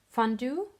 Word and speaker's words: fondue: wanted to say it in the right English pronunciation fondue chocolate fondue because it's a French word it's